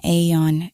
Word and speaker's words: iron: This is an iron. Be careful of the pronunciation. I did an entire video on it. Video on this. This isn't an aeon in British English.